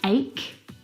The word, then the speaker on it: ache: words like stomach and ache the CH in all of these words is pronounced like a C Sound my brother is an